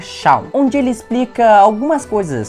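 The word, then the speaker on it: Seam: E em seguida tem um vendedor chamado Semo, mas a pronúncia é Shaw, onde ele explica algumas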